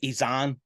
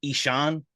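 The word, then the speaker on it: Ihsahn: Now I always pronounce his name Izan, but I think people pronounce it's the real pronunciation is Ishan, Yeah, I which think that's the right way.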